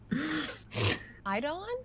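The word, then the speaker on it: Eibon: i'm give me a second uh i'm i'm idon is that you say it yes that is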